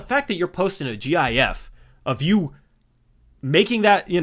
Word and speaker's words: GIF: I think it should be GIF, but I think the original intention was GIF.